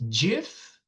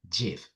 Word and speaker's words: GIF: And he said, I'm the creator, and it is pronounced GIF. So I say GIF. I know lots of people say GIF, but the creator said it's GIF.